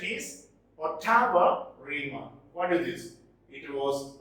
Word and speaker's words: ottava rima: Its pronunciation is Ottava Rima.